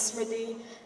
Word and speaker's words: Smriti: call me, because my name is Smriti, and it's pronounced like that, and he's literally, he's so mean, but now we have a common, we're a fam now, so.